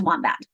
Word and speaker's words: wombat: O followed by a consonant ah, like olives. First syllable is wam. Second syllable is a followed by a consonant, so that becomes a. Second syllable is bat. Wam. Bat, I put it together. Class, my word is wombat.